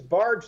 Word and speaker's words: Bargh: So we're speaking with Professor John Bargh about his work and book, Before You Know It, The Unconscious Reasons Why We Do What We Do. Professor, is it Bargh or Bargh? It's Bargh like the boat, but I don't really